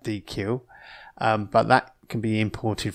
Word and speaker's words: deque: It's pronounced deque, or it does look like deque, but that can be imported from collections.